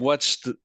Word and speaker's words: watched: Donc watched avec le T alors du coup, peut-être.